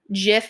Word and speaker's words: gif: you say it um jiff versus gif is a great example like when that first became a thing everyone's oh how do you say this and I think the creator of it said like oh it's jiff but I think as a society we decided no it's gif because like it's a